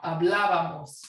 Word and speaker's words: hablábamos: Hablaba, hablamos, hablábamos, right? Accent on the A.